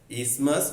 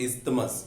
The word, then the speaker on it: isthmus: Okay, remember it is pronounced as isthmus, not isthmus. Okay, like asthma, respiratory disorder, lung disease. It is not asthma, it is asthma. TH is silent.